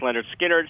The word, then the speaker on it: Lynyrd Skynyrd: first three albums uh pronounced Leonard skinnard second helping and nothing